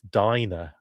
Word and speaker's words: Dana: I'll spell it Dana, but pronounce it Dinah, says Chucky Tinderbin. I don't know how to. I've always said Dana.